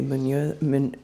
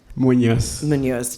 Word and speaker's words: Muñoz: and a friend of mine, the great Jose Muñoz. I said it right the first time. Muñoz.